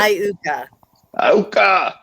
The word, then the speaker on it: Iuka: Iuka.